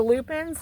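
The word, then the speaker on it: lupine: here's one of the loopin I I told you on another video I I think we planted four dormant Lupin here I call them Lupin there it's spelled l u p i n e so if you love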